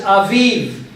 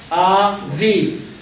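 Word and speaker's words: אביב: The first one in English says aviv. Spring. Aviv. Do you see aviv there? You see the a and then v. The yod is silent, and the last gets one responsibility, which is to pronounce the sound of the letter, which is v. So we have aviv.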